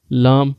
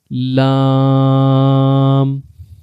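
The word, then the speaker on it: ل: There are 3 words: Lam, Noon, and Ra. Try to pronounce them and say Lam, Lam, Noon, Noon, Ra, Ra.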